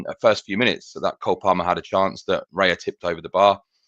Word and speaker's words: Cole Palmer: His name's not Carl Palmer, it's Cole Palmer.